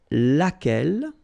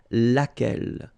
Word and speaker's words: laquelle: So basically same rule, Q-U, U is not pronounced here. And then you get this E, double L-E. Well, phonetically here, it is the same as what we have here. So, laquelle.